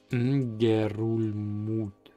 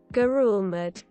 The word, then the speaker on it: Ngerulmud: Ngerulmud. Ngerulmud. Ngerulmud. How is that pronounced? Please tell me how this is pronounced. Gerulmud. Gerulmud. Gerulmud. Gerul mud. So it sounds like really like mud.